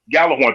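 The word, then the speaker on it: Gjallarhorn: Gallarhorn. Thank you. So the Gallarhorns, my thing is with them, those kids were whooping the Gallarhorns who were supposed to be militarily trained and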